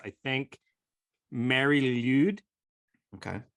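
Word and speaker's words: Mari Lwyd: I think Mary Lude. Okay. Mary Lude. So it's Lude is LWYD. That is a strange assortment of letters. It's probably like a guttural sound.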